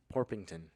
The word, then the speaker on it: Porpington: Can you pronounce his full name? Because I won't. It's Sir Nicholas de Mimsy Porpington? Porpington.